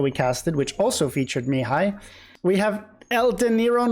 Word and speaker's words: Mihai: No, it's pronounced Mihai, and he's playing against Classicpro in the Gold League.